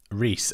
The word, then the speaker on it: Rhys: my name Rhys Reese is it Rhys or rice I you come to every stream now so I feel like I need to know how to pronounce your name correctly please tell me if I'm pronouncing it wrong Rhys okay okay good I'm good that would